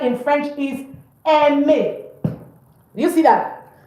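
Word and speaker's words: aime: For example, the verb to like in French is eme. Do you see that? E. The verb to like is not. So a i is pronounced e.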